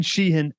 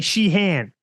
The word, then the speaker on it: Sheehan: Oh, I'd say Sheehan, but he'd say Sheehan. Sheehan. Yeah, people, foreigners technically say it wrong, but look, we won't get into that today.